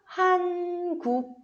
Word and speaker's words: 한국어: Iam é o som mudo, tá? É o som mudo. Junto com a vogal O, fica 한국어.